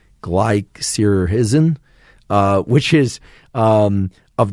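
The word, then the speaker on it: glycyrrhizin: but licorice contains a substance that I can't pronounce. G L Y C Y R R H I Z I N glycerhisen uh which is um of the glabra species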